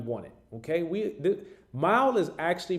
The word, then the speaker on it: MYLE: it okay we the mile is actually pronounced like driving a mile but it's spelled with a y instead of an i because it's all about